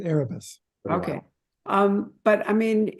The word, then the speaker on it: Erebus: the Erebus resort, or do you call it Erebus? Is it Erebus? Which one is it? I pronounce it Erebus.